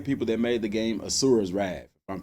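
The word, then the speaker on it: Asura's Wrath: is the same people that made the game asuras wrath I'm pronouncing that right in it there was a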